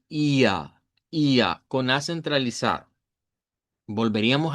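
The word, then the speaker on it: ihr: Cuando estuvimos estudiando el tema de los pronombres vimos que IR en alemán estándar se pronuncia como IA.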